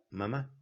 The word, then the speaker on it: mamá: Así, mamá con el acento en la, mamá. ¿Cómo dice el italiano, mamma mía, sin el acento, mamma mía?